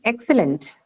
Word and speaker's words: excellent: Yes, it is an adjective, and hence the stress would be marked on First syllable, ma'am.